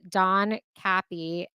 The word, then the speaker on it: Don Capi: so we are calling you we're here with Don Kappy that's how you pronounce it right yes okay just double checking